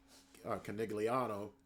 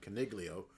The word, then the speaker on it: Caniglio: You have the CAA president, John Canigliano, or excuse me, I didn't mean to say it like that. It was Caniglio, who's been bartering in